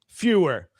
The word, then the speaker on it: Fewer: Now, am I pronouncing your last name correctly? Yes, you are. Fewer.